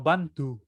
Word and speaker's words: bandhu: principio, pero cuando está en medio, entre una consonante y una vocal, se pronuncia un poco más suave, como bantu, bantu.